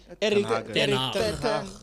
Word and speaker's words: Ten Hag: Eric Ten Hag. Ten Hag.